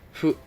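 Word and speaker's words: ふ: So the word itself says fu, right, with F, but the category is H. So you will combine H and F and say it like in the middle of H and F. So like fu. As you can hear, I don't say too much of the H like hu, but I also don't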